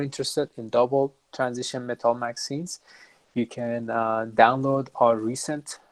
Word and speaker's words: MXene: it it's also different many people who are not familiar uh obviously even uh google sometimes or or ward uh recommend uh saying uh maxine but we pronounce it magazine and i hope that